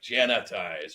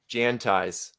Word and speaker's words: Jantize: you it's my pleasure make sure it's Janti 1 a one I onee everybody wants to put an extra a like Jan ties or Jan TI there's no so pronounce it for me